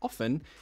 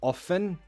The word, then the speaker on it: often: quickly, you can say often, you can say often. There's no British or American difference. Just choose. Do you want to pronounce the T or not? They're both okay. Trust me.